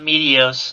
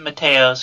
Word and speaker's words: Meteos: I've also never called it Meteos. I've always pronounced it Mateos, because I was a dumb kid who never heard it said out loud.